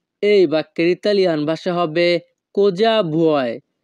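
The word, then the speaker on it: cosa: বাক্যের ইতালিয়ান ভাষা হবে কোজা ভয় এখানে ইতালিয়ান ভাষায় বানান এর উচ্চারণ হবে সি ও কো এস এ যা এস এ যা কোজা বিউ বুয়াই ভুয় ইতালিয়ান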